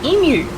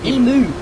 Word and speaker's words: emu: No, it is how you pronounce emu. It is not emu.